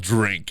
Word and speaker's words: DRYNK: This place is called Drink, and they all spell it DRYNK.